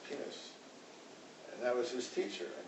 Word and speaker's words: Pines: penis in english it's p-i-n-e-s so in america we pronounce it pines but in hebrew it's pronounced penis and that was his